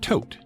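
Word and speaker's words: Thoth: People claimed that he was actually part Hermes, Greek deity of wisdom and magic, and part Tote, spelt T-H-O-T-H, but pronounced just like you would tote bag, the Egyptian deity of wisdom and magic.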